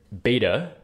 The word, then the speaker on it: beta: much like in uh the second letter beta um the um word which will help us to remember how this is pronounced is Bible which is of course